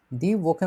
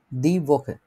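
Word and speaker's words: die Woche: বুঝতে পারছি, দি ভোকে মানে সপ্তাহ। তো সপ্তাহের আগে ডিয়ার ডিডাস কোনটা আছে আমাদের, দি ভোকে।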